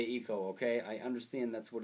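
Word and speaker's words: Ico: hard to go back and play them uh ieko and Shadow of the Colossus I know there's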